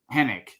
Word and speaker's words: Henwick: So Hennick. Is it Hennick? There's a W, but you don't pronounce it.